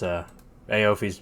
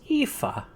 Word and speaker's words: Aoife: Yeah, honestly, I've never been able to pronounce it either. It's Aofi's always been my guess as well. Actually, it's Aoife.